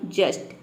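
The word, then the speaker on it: just: ये रूल है, इसलिए यहाँ पे टी को हम पूरा टा प्रोनाउंस कर रहे हैं, तब इसका प्रोनाउंसिएशन बन रहा है जस्ट।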